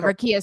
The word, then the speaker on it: Rickea: him and everything involving Rickea Jackson. That's how you say it, right? Rickea? Right, Rickea.